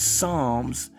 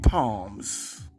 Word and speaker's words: Psalms: How come it took a nigga to tell you that it's Psalms and not palms?